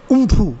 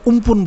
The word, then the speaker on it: Amphan: बाकी इसका उच्चारण जो होता है वो होता है उम्फू या उम्पुन।